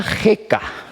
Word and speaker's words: jeca: idioma es otra cosa y se pronuncia jeca quedaros con ese con